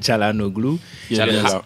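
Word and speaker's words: Çalhanoğlu: Euh sans sans oublier Chalanoglou. Non ben l'UFA a sorti la liste he des nom a prononcé c'est Chalanoglou.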